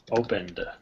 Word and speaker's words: opened: done so then hide how do we pronounce this word then opened yeah opened it's just we nev forget the the ed is even there it's almost like we're just saying opened right forget the e is even there all right